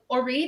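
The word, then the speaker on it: Auret: Orit is actually a very popular name in Israel. So it's an Israeli name. And it's usually spelled O-R-I-T. And my parents just wanted to do something different and spell it A-U-R-E-T. A lot of people think it's French, like Ore or something.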